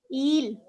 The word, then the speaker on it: il: Eel. It's not ill. It's eel. Eel. Add as many e's as you can.